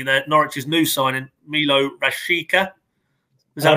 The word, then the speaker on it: Rashica: Norwich's new signing, Milot Rashica. Is that wrong? I'd say Rashica. Rashica, there you go.